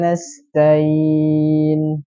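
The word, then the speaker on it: نستعين: Di sini menghilangkan huruf ainnya. Jadi bacanya gimana? Tain. Karena stain ya sering terjadi menghilangkan huruf ainnya. Jadi bacanya langsung nyambung. Wa iyyaka nasta'in.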